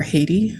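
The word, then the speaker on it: Ayiti: yeah yeah and so I think to begin my people are the people of a island um Nation known as I or Haiti in the English pronunciation um and my people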